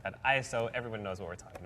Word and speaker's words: ISO: night I was like the pronounce right pronunciation of this word is ISO and JD's like no